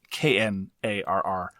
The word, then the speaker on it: Knarr: It is Knarr. The K is silent.